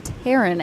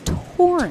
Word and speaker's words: Torin: I thought it might have been Teran and then I had to look at the pronunciation guide. Miss Torren Torren Alexander.